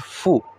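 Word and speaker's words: ふ: এবং এর পরবর্তীতে একটা মজার বিষয়, এটা হা, হি, এখানে হওয়ার কথা হলো হু, কিন্তু হু না হয়ে এটি হচ্ছে ফু, হা, হি, ফু, হা, হি, ফু।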